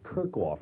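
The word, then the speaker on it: Kerckhoff: The hall down at what UCLA is Kirkoff, not Kershaw."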